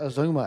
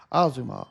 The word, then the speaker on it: Azuma: Not Azuma as I pronounced it earlier. Azuma.